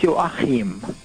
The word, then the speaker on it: Joachim: So in German it's Hans Joachim. That's like Joaquin.